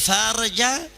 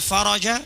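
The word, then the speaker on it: الفرج: Bunyi hadis wa annal faraja ma'al karbi, yang artinya dan kelapangan itu bersama kesulitan. Tapi kalau dia membacanya wa annal farja, bisa ditembak pakai AK-47 sama orang Yaman dia.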